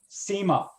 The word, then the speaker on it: Cyma: certainly have announced that again how do you pronounce that sema sema are they pretty good watches or yes